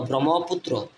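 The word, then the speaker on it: Brahmaputra: ম্রম ফি ইউ টি ফুত আর র পুত্র ব্রহ্মপুত্র তারপর লক্ষ্য করেন দি কর্ণফুলি কে এ আর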